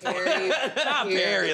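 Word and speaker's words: Pearry: Perry, like a fruit.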